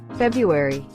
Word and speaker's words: February: February. February. This one really irritates me. But apparently the common pronunciation has changed to drop the first R, making it February-e.